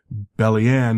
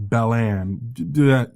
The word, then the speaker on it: Bellianne: I also wrote out and a phonetic pronunciation of their names because Magni, not Magni, Bellianne, not Bellan.